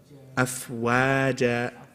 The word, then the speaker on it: أفواجا: Afwa, not afwa. Wa, say wa. Smile. That's it. Afwaja.